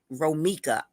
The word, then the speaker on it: Romica: Romica says, "I'm sorry. That's how you Romica. I'm sorry. That's how you say it."